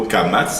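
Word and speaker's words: קמץ: Mais en tout cas, de toutes les manières, de la prononciation répandue chez les Sefaradim, il n'y a pas de différence entre le Kamatz et le Patar. Les deux, ils se prononcent A.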